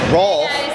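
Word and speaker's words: Rohlf: All right, so I'm here with Joanna Rolfe. Yeah. I say it right? Yeah, you said it right. It's spelled differently, R-O-H-L-F? H is Rolfe.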